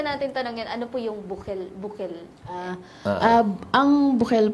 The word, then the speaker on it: Bukel: morning Paula So how do How do you pronounce cafe ah cafe bukil in Ilocano bukil pero tayo Tagalog buk bukil Buking na lang